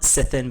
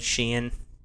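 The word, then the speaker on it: sithein: some things to consider a sithin or a Sheen depending on it's spelled sithin but it said Sheen it's a language difference is a fairy Mound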